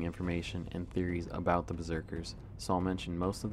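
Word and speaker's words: berserkr: With that being said, the word berserker in Old Norse is written as B-E-R-S-E-R-K-R, pronounced Berserker, meaning bearskin or bear coat.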